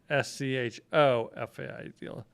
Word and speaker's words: Schofield: name the same way that telemarketers pronounce it, which would be SCHOEFIELD. There's no E. It's SCHOFIELD. Just like the Bible and the revolver.